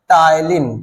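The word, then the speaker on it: ptyalin: उसे हम कहते हैं टाइलिन पी टी वाई ए एल आई एन ई जिसम से पी साइलेंट है और टाइलिन को ही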